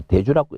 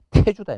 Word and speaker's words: 태주: 대족이고 족이고 한데도 이 말 대주라고 읽더라고. 나도 이거 찾으면서 상당히 이제 한 번 더 본다고 상당히 어려움을 느끼는데 대주입니다. 이게 대주인데 원칙적인 12율로 본다 하면은 이 대주가 뭐 태주입니다. 태주. 대주가 아니고 태주다 이 말.